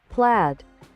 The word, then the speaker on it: plaid: So, plaid. Why is it pronounced like that? I thought it was blade.